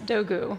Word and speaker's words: Dogu: you're not Turkish it's so the g is silent um but the American pronunciation which I'm perfectly happy with is a little more elongated it's and the last name is dogu so I just um don't do the silent G because that's kind of